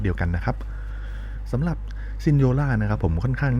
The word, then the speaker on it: Signora: นี้ นะ ครับ ผม ใน ภาษา อิตาลี ออก เสียง ว่า ซินโญ่า นะ ครับ แปล ว่า